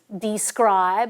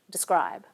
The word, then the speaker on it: describe: Likewise, this word doesn't get pronounced as describe, and not even usually as describe. The vowel in the first unstressed syllable gets reduced, and we say describe.